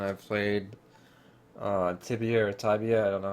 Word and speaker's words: Tibia: And I played uh Tibia or Tabia. I don't know how to pronounce it. Let's find out. How do you pronounce Tibia? Tibia. Oh, it was Tibia.